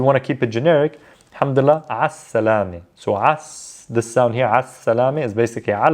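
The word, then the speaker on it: الحمد لله: with already already means thank god thank god alhamdulillah again just more of the um you know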